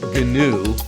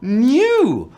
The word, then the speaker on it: gnu: I'm not pronouncing it GNU. That's something different. That's a free operating system. I'm saying new.